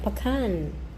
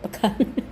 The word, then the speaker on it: pecan: Sa America ang tawag ay pacan. Pwede ring pean sa atin. Ewan ko kung anong tawag. Basta pakan. Pakan. Pakan ang pronunciation sa US.